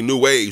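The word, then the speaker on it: Nu Wave: But it's because there's so many new waves. You gotta spell it N-U. It's like it's spelled new wave N-U. But it's the it's like RG Pasadena boy in them.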